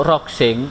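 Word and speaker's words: roughing: saya pilih rok sing rocking ya tulisannya bacanya roksin atau bahasa kita sehari-hari tuh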